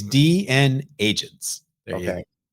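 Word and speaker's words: DNAgents: It is DN agents.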